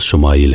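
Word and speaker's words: ישמעאל: خوشخبری سنا دی گئی۔ عبرانی زبان میں اسماعیل کا تلفظ شمائیل ہے۔ شما کے معنی ہے سن، اور ایل اللہ کے مترادف ہے۔ چونکہ اولاد کے لیے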